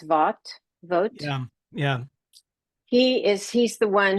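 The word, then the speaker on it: Vought: time, on immigration, and Russ, I think it's pronounced Vogt.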